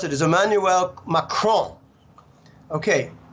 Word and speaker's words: Emmanuel Macron: out of 200 kids so the way you pronounce it is Emmanuel macron okay Makran won the rigged farcical corrupt election he just